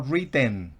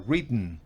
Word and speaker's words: written: No written, no written, sino written. Una E casi que no se escucha.